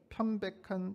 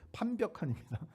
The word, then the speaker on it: 판벽한: 이 성전이 황폐하였거늘 너희가 이때 편백한 집에 거주하는 것이 옳으냐? 편백 아니고 판벽한입니다. 발음을 잘못했어요.